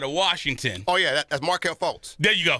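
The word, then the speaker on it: Markelle Fultz: the kid out of Washington oh yeah that's Marquel folz there you go folz that's his yeah yeah yeah Mar fols is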